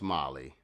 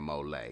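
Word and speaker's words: MOLLE: I know it's pronounced Molly, but I like saying mole.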